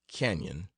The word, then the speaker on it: Canon: left behind and up King's Canon please pronounce Canyon after the manner of the natives there are ranches or